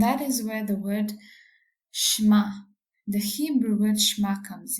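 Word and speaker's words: שְׁמַע: terms means to hear the Hebrew word pronunciation sounds more like shma but it also means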